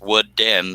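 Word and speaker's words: WoodDen: In case you see that, it's pronounced Wood Den, not Wooden. His name is Dennis.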